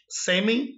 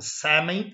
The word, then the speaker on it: sêmen: Aqui no Brasil nós falamos sêmen e fêmur. Lá eles falam mais aberto, sêmen e fêmur.